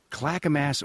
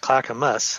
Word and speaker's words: Clackamas: Clackamass, Oregon. Where is it? Well, it's actually pronounced Clackamus.